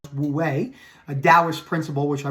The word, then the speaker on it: Wu Wei: And the flow state, aka Wu Wei, I believe it's called, pronounced Wu Wei, a Taoist principle, which I believe is also